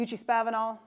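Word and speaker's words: Eucha-Spavinaw: The Uchee-Spavinal, I know it's pronounced that way.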